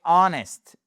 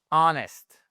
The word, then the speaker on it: honest: exception notable qui est honest. Ici le H vous ne l'entendez pas, ça commence par un son voyel que je vais essayer d'écrire correctement. Voilà en phonétique. Honest et pas honest. Non non. Honest.